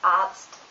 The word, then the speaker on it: Arzt: And TZ is pronounced like Z in German. For example, Arzt, Katze.